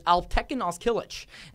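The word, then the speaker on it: Alptekin Özkılıç: I wish you were going to try to pronounce it, but it's Alptekin Ozkilic.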